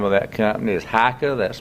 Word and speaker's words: HEICHE: industrial park the name of that company is haika that's spelled h-e-i-c-h-e it's a german-based company and the